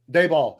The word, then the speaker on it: Daboll: How you pronounce it? Daboll.